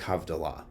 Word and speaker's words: havdalah: do have allah we end shabbat we make havdallah and that's usually how it's said is we make havdalah because we're making a distinction we make havdalah